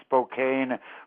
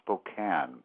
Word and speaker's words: Spokane: much for correcting that it looks like it's Spokane but it's actually pronounced Spokane a lovely town in eastern Washington and you